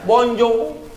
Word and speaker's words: bonjour: Bos Hai tulisannya bonsoir Tulisannya Bonjour bacanya bonjong tulisannya bonsoir bacanya wonshua